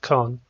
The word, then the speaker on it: scone: The scone, pronounced con, is a traditional form of baked bun, with a sweet and crumbly texture halfway between bread and cake.